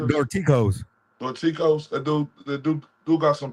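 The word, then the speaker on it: Dorticós: Dorcas? Dorticos.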